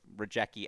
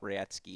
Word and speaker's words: Rajecki: She beat into my head that that's how it's supposed to be pronounced. So Rajecki out, Rayetsky in.